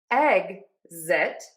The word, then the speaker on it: exit: So, for egg-zit, we are going to end syllable number two with zit. That Z is voiced, so your voice box is on and moving, okay? Think of saying the word egg like the delicious food. Egg-zit. Egg-zit.